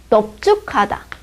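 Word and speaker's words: 넓죽하다: 근데 이 리을, 비읍 중에서도 리을로 나는데도 리을 중에서도 예외가 있어요. 넙죽하다. 넙둥글하다. 넙둥글다. 이럴 때는요. 얘는 또 비읍으로 소리 납니다.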